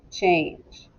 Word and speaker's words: change: trick word that's right it has a n in the middle but it doesn't say and fan it's a long a sound ch ange and also the g makes the sound of j that's right okay so